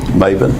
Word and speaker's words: Mebane: Would you pronounce your name the way you'd like for me to pronounce it? Maven.